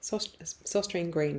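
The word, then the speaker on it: Søstrene Grene: So there's a company called, oh gosh, pronunciation again, this time Danish, Søstrene Green. Søstrene Green is how you would say it in an anglicised way.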